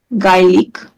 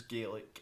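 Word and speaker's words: Gaelic: G language maybe also referred simply as G pronounce gik I saying well yeah yeah it's pronounced as GIC in English GIC yeah and uh yeah I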